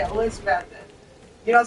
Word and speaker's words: Elizabethton: A lot of people going from here will say Elizabethton, and it's like, you don't pronounce that last T. It's just Elizabethton.